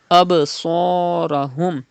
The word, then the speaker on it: أبصارهم: Absarahum, do qalqala in ba and pronounce sad with thicker voice.